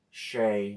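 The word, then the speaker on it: Shai: this uh Shay. I heard it pronounced Shay over the I was watching something. It was highlight show. They said Shay. So I've been pronouncing it wrong all these times.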